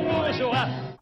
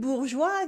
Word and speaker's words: bourgeois: In bourgeois, the S is silent and the E is only here to make a soft G. This way, it sounds like je sound instead of g sound. There are two syllables. The first one is bourg with the ou sound and a French R, bourg, bourg, bourg. And we have joie, joie, like joy, la joie. Bourgeois, bourgeois, bourgeois.